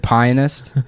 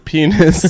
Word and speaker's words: pianist: How do you pronounce the pianist? Is it pionist? Do you say a ad aan and the pionist? Okay, it's first of all, it's the pianist.